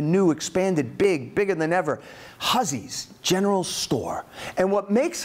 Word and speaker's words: Hussey: In Windsor, Maine, where Harlan Hussey, looks like Hussey, he was a German immigrant, pronounced it Hussey, just like Dan & Witt, he also did very well.